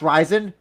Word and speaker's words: RIZIN: Like it's pronounced Ryzen, but then Patchy Mix will say like Ren.